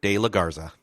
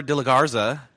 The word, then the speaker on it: de la Garza: to the show Amber de la Garza. Did I say it right? Did I say it too quickly? Or No, I think you said it great. De la Garza.